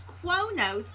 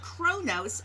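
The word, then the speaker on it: Qo'noS: we talk about qonos it's spelled with a q and an o and an apostrophe and an nos it's quo nos not chronos and i've been spelling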